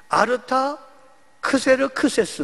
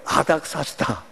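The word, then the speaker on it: Artaxerxes: 제국의 아 닥사 시다 이 아닥사스다 라는 말도 우리의 기회는 요 말이 익숙하지만 정확한 발음은 a 타 크세르크세스 s2 그겁니다 아무 따라 그러니까 a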